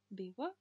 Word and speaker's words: vivo: По поводу буквы «V», вот эта буква, английская «V», она называется «V» в испанском языке. И в начале слов она всегда читается как «B». И, соответственно, я сказала «Vivo», «Vivo en España».